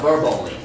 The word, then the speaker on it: verbally: The stress on the first syllable, which is verbally.